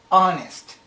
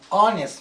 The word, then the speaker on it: honest: for example the word honest you don't pronounce the letter H so the first sound of the word is a vowel so in this case we say an honest man because the first